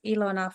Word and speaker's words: Ilona: Please, Ilona from OX2. Did I pronounce it correctly?